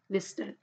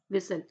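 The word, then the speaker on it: whistle: Okay, टंग, यहाँ पे क्या है चौक, और यहाँ पे क्या है विस्टल, विसल। तो यहाँ पे क्या है, विसल में क्या है टी साइलेंट हो गया, चौक में क्या है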